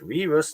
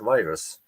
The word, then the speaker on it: V/RUS: And yes, we decided to pronounce it RUS, not virus.